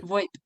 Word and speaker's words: VoIP: Voice over IP, or you can say VoiceOver, VoIP, right? VoIP, that's the short version.